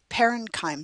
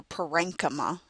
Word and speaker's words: parenchyma: Parenchyme cells, or parenchyma, depending on how you pronounce it, collenchyme or collenchyma.